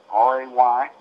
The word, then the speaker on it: Rayborn: Rayborn, R-A-Y-B-O-R-N, pronounced Rayborn, had a single, and a walk.